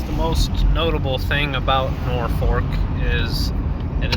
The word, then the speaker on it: Norfolk: here in downtown norfolk it's pronounced nor fork and it got its name from the north fork of the river i think the elkhorn